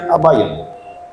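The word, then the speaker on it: Abbagnano: Tem aquelas letras todinhas, mas a gente pronuncia Abaiano.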